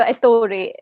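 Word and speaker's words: Ettore: the shadow king so you have a character Authority is that how you pronounce it yes and he is a photographer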